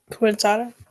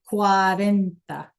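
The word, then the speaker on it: cuarenta: I forgot how to pronounce it. Um, quent or something like that. I can't forgot how to pronounce Yeah, that's how we we get a point or we don't, right? Quarenta.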